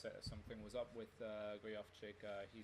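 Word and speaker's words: Gojowczyk: to have to educate me on this, Peter Gojovcik. Exactly, that's the name, that's the pronunciation.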